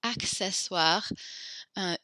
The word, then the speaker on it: accessoires: So we pronounce that first C hard and the second one soft. Accessoires.